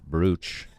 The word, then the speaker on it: brooch: I was really surprised at how brooch was spelled. Brooch. Never wrote that word down before. Brooch. Yeah. Yes. It's not spelled how it's pronounced.